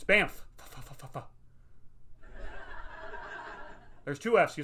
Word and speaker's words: Banff: saying it right but it's spelled weird it's b-a-n-f-f so the thing is that uh canadians are known to be very nice people but i'm always worried that i'm gonna run into one angry one like i say it wrong i'm like yeah i just went to banff and they're gonna be like what what'd you just call it you just call it banff it's not banff all right it's banff